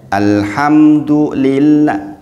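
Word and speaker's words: الحمد لله: enggak boleh alhamdulillah alhamdulillah harusnya Alhamdulillah Iya kan Alhamdulillah kemudian la di situ dibaca tipis dibaca tarkik tidak boleh dibaca tebal tidak boleh alhamdulillah alhamdulillah Apalagi ngih itu kesalahan-kesalahan kecil kemudian la dibacanya satu Ayun atau dua harakat saja jangan lebih jangan alhamdulill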